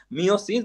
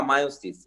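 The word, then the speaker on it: meiosis: বা মিওটিক cell division, মিওসিস বা মায়োসিস, এটা অনেক ভাবেই আসলে প্রোনাউন্সিয়েট হয়, মিওসিসও বলা হয় মায়োসিসও বলা হয়, তোমরা যেটা হচ্ছে ফিল করো।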